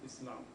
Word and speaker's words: Islam: of Z so Muslim Islam Islam soft s again Islam peace again that's